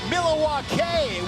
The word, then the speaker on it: Milwaukee: Oh, Sparks, I'm glad your little vision came true here in Milwaukee, Wisconsin. Actually, it's pronounced Milawake, which is alquin for the good land.